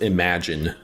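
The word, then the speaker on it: Imogen: Her name is pronounced Imagine.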